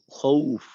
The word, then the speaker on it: خوف: খৌফ, খৌফ খায়ের দিকে যেন না যায়।